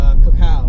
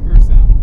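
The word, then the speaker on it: Curaçao: And sail it to Kukau, right? Is that how you say it? Curacao. Curacao, oh. An ABC crew.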